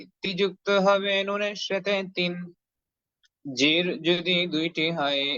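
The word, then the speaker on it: ث: সাবরে সাজিরে সাফি সু জিহ্বার আগা সামনের উপরে দুই দাঁতের আগার সঙ্গে লাগিয়ে সা অক্ষরের উচ্চারণ খুব সুন্দর করে নরম করে উচ্চারণ করতে হবে সা জবর সা জবর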